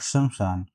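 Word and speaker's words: श्मशान: शमशान, शमशान, इसमें आधी सा और इसमें भी आधी सा है लेकिन दूसरी वाली सा, तो जो इसका सही उच्चारण होता है ये सी पार्ट, शमशान।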